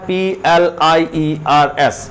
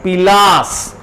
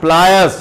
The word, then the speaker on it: pliers: प्लायर्स आपने खूब सुना होगा, और इसको देख रहे हैं, इसकी स्पेलिंग क्या है, PLIERS, प्लायर्स।